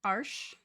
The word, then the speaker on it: Arches: I've tried Arches Fabriano, which Arches if pronounced cor correctly is like Arsh, which is a more it sounds very German.